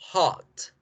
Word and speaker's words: hot: Calor se pronuncia con la O corta. Hot, hot, hot, hot, hot, hot.